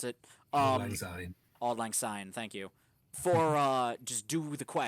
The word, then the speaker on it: Auld Lang Syne: Or for Auld Lang Syne, I don't know how to pronounce it. Auld Lang Syne. Auld Lang Syne, thank you.